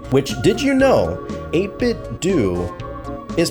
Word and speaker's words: 8BitDo: probably the most sense 8bit do 8bit do. Cuz if it was a if it was do, it would have like either H like Homer Simpson or it' be literally spelled like D O U G H or something. But that you don't get that right there. It's do. So 8bit, do not call it 8bit dough.